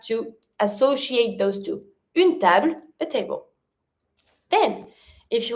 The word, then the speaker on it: table: So it's not table, it's table.